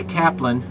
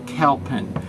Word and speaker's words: Calpin: And everybody likes to say Kaplan and spell it Kaplan, but it's actually Calpin. C-A-L-P-I-N, Calpin. So don't call him Kaplan, the poor guy.